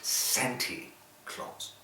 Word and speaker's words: Santa Claus: Don't forget, it's spelled Santa Claus, but according to the song, you pronounce it Santy Claus.